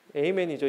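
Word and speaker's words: Amen: 아멘이 아니고 에이멘이죠. 이건 에이멘. 제가 한국말로 읽으면 아멘이고 영어로 하면 에이멘. 그죠?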